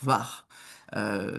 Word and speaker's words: Hvar: Juste en face, c'est la fameuse ville chic de Hvar, que l'on prononce avec le petit H avant, hein, Hvar. C'est important pour eux. Ils comprendront pas si on dit juste la ville de Var.